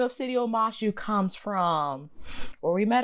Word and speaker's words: Omashu: Omashu.